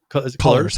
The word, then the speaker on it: Cullors: Cullors, how it's pronounced.